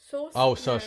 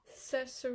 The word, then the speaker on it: Saoirse: Saoirse Ronan. Saoirse Ronan.